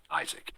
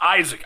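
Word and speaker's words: Izek: says Isaac for Hunter for those of you taking notes at home i-z-e-k Isaac oh it's spelled the worst way this dude's a dude it's a terrible way of doing it Irwin comes around and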